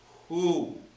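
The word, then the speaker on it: הוא: Next one, because the aleph is silent, then we have the shuruk would be u, just u. That's all. That's all it is. It's taking the sound of the vowel. And then, finally on that line, there's a hey that we hear only the h sound. So we have hu.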